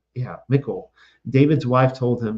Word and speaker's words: Michal: few chapters later, we have that scene where David goes into it's like Michal, that's his wife, his wife under Saul.